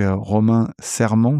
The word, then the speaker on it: Romain Serman: Et donc Romain Serment, c'est comme ça que ça se prononce.